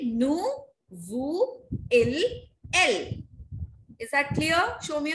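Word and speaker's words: elles: to follow is that all the consonants that lie in the end of a verb, they are not pronounced. I will not say ils and else. What I will say? Il, el.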